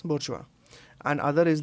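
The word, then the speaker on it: bourgeoisie: इसकी pronunciation is बोर्चुआ।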